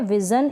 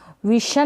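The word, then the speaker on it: vision: फिर ये है विज़न, इसको विशन ना पढ़ें, विज़न, क्या पढ़ेंगे विज़न।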